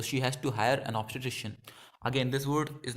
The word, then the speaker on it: obstetrician: it isn't not emphasized you have to just say it in a very quick way a physician obstetrician having a baby so